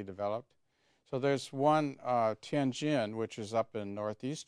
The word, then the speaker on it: Tianjin: water on the ocean so what's remarkable about tenjin pronounce it right tianjin yeah tianjin is a very famous old city